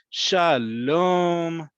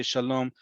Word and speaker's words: shalom: forward to seeing but shalom that really st drawn out second syllable is like hello just like we say